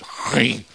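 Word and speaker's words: Gry: I think it's because they don't actually want to, because G-R-Y is pronounced, it sounds like clearing your throat. It's GRI.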